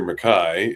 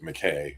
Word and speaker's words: MacKay: Uh and I butchered my name regularly actually. Um it should be Peter Mcai if went to Scotland not long ago